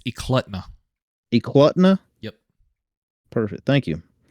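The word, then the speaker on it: Eklutna: l u TNA uh I looked up the pronunciation it's euta euta yep perfect thank you so they were in euta hunting along the kinck River so this is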